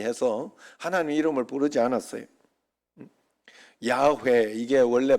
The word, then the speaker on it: 야훼: 야훼 이게 원래 발음인데 밑에 이 발음만 사용해서 아도나이 그렇게 하나님을 부르고 하나님을 그만큼 위대하고 크신 분이기 때문에 그렇게 했어요.